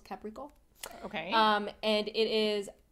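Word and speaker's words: Caplico: called CAP Capo but in Japan they don't pronounce the L so it's caprico okay um and it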